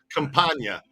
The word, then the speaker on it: Campagna: Campagna there we go Campagna I see it now now my brain's seeing it in in the yes okay where compania compania I got it compania the g is silent everybody knows everybody knows